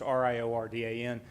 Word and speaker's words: Riordan: Because for those of you that don't know, it's spelled the Irish way, so it's Riordan.